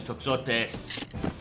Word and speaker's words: toxotes: The heavy toxotes. I'm not sure if that X is pronounced like an X or a ch. Toxotes. I know that oftentimes in Greek, the X has a ch sound.